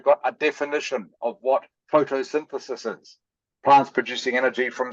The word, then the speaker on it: photosynthesis: The diagram below shows the process of photosynthesis. Correct. Paraphrase. It's pronounced photosynthesis, by the way.